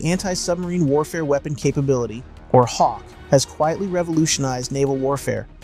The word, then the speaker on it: HAWC: Today, we're diving deep into the HAWC system, pronounced Hawk, a game-changing technology that's transforming the P8A Poseidon into the deadliest submarine hunter ever built.